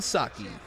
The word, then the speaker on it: Saki: I know Saki. That's how you pronounce his last name.